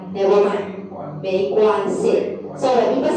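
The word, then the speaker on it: 没关系: next Molly try this MEI how do you pronounce EI 对美关系 yes UAN we will read as a 弯 plus the G is a 弯 and C like 没关系 so this one without any tone okay 没关系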